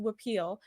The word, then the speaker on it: huipil: appeal is spelled h-u-i-p-i-l but it's spell it's pronounced repeal and it's that traditional Mayan clothing from Guatemala